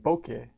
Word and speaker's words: Bokeh: be matplotlib Seabourn and Boca that's spelled Bo k eh so that's why I spelled loud cuz bouquet kind of kind of you don't that's kind of you don't know how to spell that alright so the programming